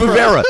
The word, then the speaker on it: Vevera: Dude, it's so spelled Vevera. You said it the way it's spelled.